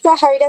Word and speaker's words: Jaira: A ver, Sahaira, así se pronuncia. Sí, Jaira se pronuncia, profe, Sí, ¿qué tal?